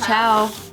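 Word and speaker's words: Chau: His last name is Chow. Oh. Chinese. C-H-A-U is how you spell it.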